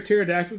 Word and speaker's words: pterodactyl: Why can't you hear a pterodactyl go to the bathroom? Why? Silent P. The P is silent.